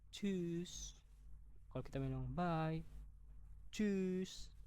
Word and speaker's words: Tschüss: T S C H itu dibaca C. Jadi, ini bacanya Tschüss.